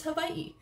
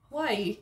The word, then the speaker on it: Hawaii: Still training myself out of saying Hawaii. It's Hawaii. The pronunciation Hawaii is not correct. It's Hawaii.